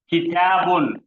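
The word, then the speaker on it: كتابٌ: दो पेश आएंगे तो उसका प्रोनाउंसिएशन उन हो जाएगा, किताबुन।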